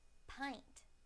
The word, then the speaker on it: pint: point point point now the I sound on the word pint pint pint now I